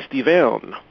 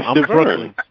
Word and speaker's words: Stiverne: How do you pronounce his name, period? Bermane Stiverne. Say that in English, brother, without the dialect, please, so I can get it. Bermane Stiverne.